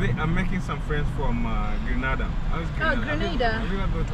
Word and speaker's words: Grenada: We call it, as a Kenyan we say Grenada. I said that for the longest too. Oh. Until I came to learn they pronounce it as Grenada.